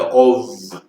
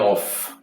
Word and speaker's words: of: Beleza, eu tenho um Vzinho ali no final, mas esse of eu pronuncio com V, é of, tá? Não é off, of.